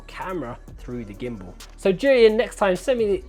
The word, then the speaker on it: Zhiyun: The Zhiyun Chinese characters pronounced Zhiyun, not Zhiyun, Jiyan, Jiyan. I've heard lots of people pronounce it differently. It's Zhiyun.